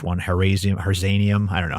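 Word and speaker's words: harzianum: I always look for the H one, Herzanium. I don't know how to say it. It's the one you said earlier. Herzianum.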